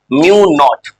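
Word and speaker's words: μ₀: अब प्रोनाउंस करना है इसको म्यू नॉट, नाम है ये।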